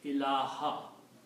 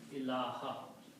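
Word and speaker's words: إله: So the word is pronounced as ilaha. Okay? So this is now pronounced, because of the la, is pronounced as ilaha.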